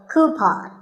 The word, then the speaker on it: coupon: of these a coupon a common incorrect pronunciation is but the second syllable should be pawn so coupon here's word number 16 how